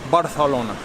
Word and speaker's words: Barcelona: they said Barcelona and what will help you to pronounce it properly is imagine you have a mouthful Paia but you don't want to spit any out so you have the mouth full of Paia and you say Barcelona barthelona keep the paia